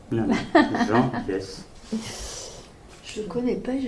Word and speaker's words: Biès: Donc il y a Françoise Bonnardel, il y a un personnage, c'est un philosophe actuel, Jean Biès, vous avez déjà dû entendre parler de ce personnage, donc il a écrit un bouquin, Les Alchimistes, en 2007.